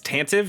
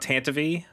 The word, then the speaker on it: Tantive: the tantive uh four it's tantive it's not tantivy I read it as tantive but I me okay